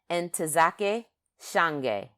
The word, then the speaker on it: Ntozake Shange: is entozake shange and i have been mispronouncing it wrong probably my whole life um and so what i did today or yesterday is got on that uh thing and typed in the pronunciation so i could say it right and it's entizake shange and um uh and